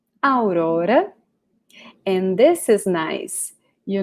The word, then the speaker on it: Aurora: Okay, and her name, I guess it's the same name in English, right? But we pronounce it different. So this character, the princess, she's called Aurora. Aurora.